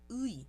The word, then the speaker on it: 의: Então, quando começar uma palavra, vai ter som ui. A segunda pronúncia possível é quando ela for indicar posse, né? No caso aqui, a escrita vai ser ui, porém a pronúncia vai ser e.